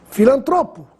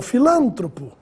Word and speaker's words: filantropo: Filantropo e não filântropo. Essas duas palavras ficam terríveis quando mal pronunciadas.